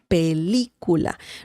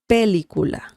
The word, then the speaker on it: película: We have an accent mark as well on the letter I. Película. If we didn't have the tilde or the accent mark, it would be pronounced like película. And it doesn't make sense.